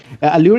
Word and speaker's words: Allure: Allure, correct pronunciation. Allure, correct.